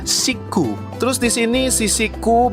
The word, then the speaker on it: Chic: Tulisannya itu CHIC, tapi kalau dalam pelafalan Jepangnya Shiku.